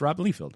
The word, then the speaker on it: Rob Liefeld: Pronounce my name wrong and all that, but it's all good. It's Rob Liefeld.